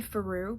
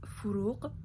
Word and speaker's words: Furuq: People call me Faru, but the proper pronunciation is Furuq, and most people can't.